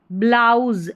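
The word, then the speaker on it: blouse: अब इस एस को जो है यहां पर ज पढ़ा जा रहा है ना कि स। रूल इसका यही है कि इससे पहले जो है वाऊ लेटर रहता है तो एस को ज पढ़ते हैं।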